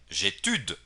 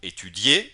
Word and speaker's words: étudier: Porque mucha gente, principiantes y no tan principiantes, pronuncian j'étude o il étude. ¿Por qué? Porque la i casi no suena aquí. Cuando digo étudier, suena claramente la terminación y la i es muy leve, étudier.